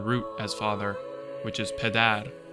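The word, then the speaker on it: پدر: In modern Farsi, the word which has the same Indo-European root as father, which is pedar, is naturally spelled PDR, and those who read the script know to pronounce it pedar.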